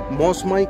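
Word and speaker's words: Mawsmai: এটাকে প্রথমে আমি বলেছিলাম কিন্তু মৌসুমী কেভ একচুয়ালি উচ্চারণটা মসমাই কেভ তো আমি ভুল করেছিলাম চলুন এর আগেও এসেছিলাম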